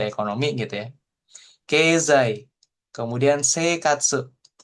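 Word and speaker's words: 生活: Kemudian seikatsu. Jadi yang dipanjangin e-nya. I-nya nggak dibaca. Ya, bukan seikatsu, tapi seikatsu.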